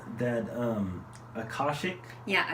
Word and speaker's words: Akashic: cards and how do you say that um collar shake yeah Akashic records so once I seen that on the